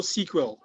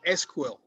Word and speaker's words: SQL: And then there's also SQL or SQL. If you've played around with databases, then you will know SQL. Some people call it SQL, some people call it SQL. Either way is fine, but just know it